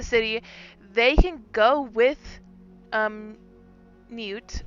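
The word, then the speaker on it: Neut: marks in the city, they can go with Newt. Is that how you say her name? Yeah, no, that was perfect.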